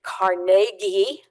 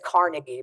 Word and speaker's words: Carnegie: He gave the land for the Carnegie Library building. I always said Carnegie, but apparently Carnegie is the proper way to say it.